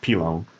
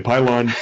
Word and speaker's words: Pilon: Yeah, so my last name is Pilon, Pilon en français. Pilon. But nobody can pronounce it properly in English. They usually say Pylon, and so that's stuck